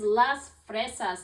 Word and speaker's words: las fresas: It's a picture of a strawberry, and the way we say that is las fresas.